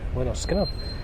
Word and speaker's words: Lynyrd Skynyrd: So when I listened to the first Skynyrd album, pronounced Lynyrd Skynyrd, I couldn't believe how good it was.